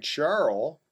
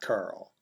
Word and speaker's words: Charl: Some people are saying Charl, not Carl. No one on TV is pronouncing it Carl.